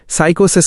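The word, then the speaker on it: psychosis: जब कोई समस्या पूर्ण विकसित मानसिक विकार फुल ब्लोन मेंटल डिसऑर्डर का रूप ले लेती है तो उसे साइकोसिस साइकोसिस माइनस उच्चारण साइकोसिस कहा जाता है।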